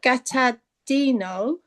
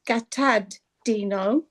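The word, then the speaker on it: gataddhino: Vipamutasa, you can hear it, but gatadino, you don't really hear the D. Gatadino.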